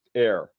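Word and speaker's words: heure: hour into into French and it comes out air Zulu which I think is sounds a lot cooler I put it up there h-e-u-r-r-e is pronounced air uh that's as best as I can do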